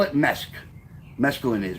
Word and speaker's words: mesk: is, we call it mesk. Mescaline is. We call it mesk. M-E-S-K. That's what it sounds like, but that's not how it's spelled.